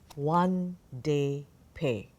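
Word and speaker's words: Won-Ldy Paye: to pronounce this name and apparently it is pronounced one day pay so the authors are one day pay Margaret H Lippert and the book is illustrated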